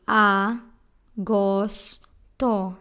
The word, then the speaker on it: agosto: Leo a ghost own this word has three syllables ah ghost oh that's easy Agosto said